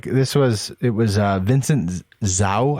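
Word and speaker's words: Vincent Zhou: was it was uh vincent zao i think it is how you say it zoo z-h-o-u he's a u.s olympic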